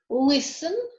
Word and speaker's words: listen: T is silent in castle, whistle, listen, fasten, Christmas.